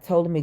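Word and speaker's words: Ptolemy: the last days of to me gray the p is silent that was was Cleopatra's daddy's name PT o l e m y toally me gray that was the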